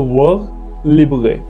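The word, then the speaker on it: vers libre: इट is also known as words लिबरे। अगर ये वर्ड को हम फ्रेंच में प्रोनाउंस करें तो वर्ड लिबरे, क्योंकि मैंने फ्रेंच पढ़ी हुई है तो इसलिए मैं इसको प्रोनाउंस कर सकता हूँ।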